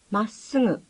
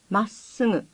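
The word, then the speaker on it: まっすぐ: Think of double letters as having a hyphen between them and pronounce both letters distinctly. Listen. まっすぐ、まっすぐ。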